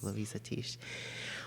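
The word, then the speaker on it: Luisah Teish: a debate of how her name is actually pronounced, the author of Jambalaya. Is it Louisa Tish? Yes. Louisa Tish.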